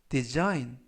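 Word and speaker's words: design: 가지고 있습니다 이번 표현은 디자인 디자인 디자인이라고 발음하시면 되겠고요 이때 유의하실 점은 알파벳 g 이번 단어에서는 무음이라 발음이 되지 않습니다 품사는 명사 뜻은 디자인이라는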